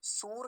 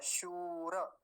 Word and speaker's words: शूर: जानकारी के अभाव में सही उच्चारण क्या होगा शूर तालव्य सकार दीर्घ उकार के कारण लंबा खींचेगा थोड़ा सा शूर रेफ को पूरा रखेंगे शूर नहीं बोलेंगे शूर देखिए ना इतने से